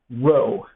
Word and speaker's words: rho: So it kind of looks like a little lowercase p, but just, kind of more curly or whatever, and it is pronounced rho.